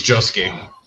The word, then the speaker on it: Josuke: Or did I pronounce that right? Probably not. It's Josuke.